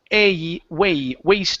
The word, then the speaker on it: waste: This is a long a long A sound instead of was disposal. It's waste disposal.